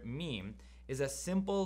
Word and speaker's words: meem: The name of the letter is meem. Me, me. It's about me. And it's pronounced ma, ma, ma. Let your lips touch together, hum a little bit.